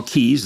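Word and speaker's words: cays: It's 700 scattered islands and small keys. It's spelled C-A-Y-S, but it's pronounced Key.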